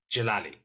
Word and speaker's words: Djalili: it's like Novak jovic the D is silent it's a bit like